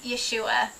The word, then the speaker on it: Yeshua: more important than that his name is not Jesus because that is not the name that yahovah named him Angel Gabriel or however you say that in Hebrew told Joseph or actually more correct ysep to name him Yeshua not Jesus neither is Jesus the English